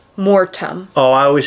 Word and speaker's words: Mortem: A lot of people spell it with a D because of how we say it, Mordum. Oh. But it's Mortem. Mortem.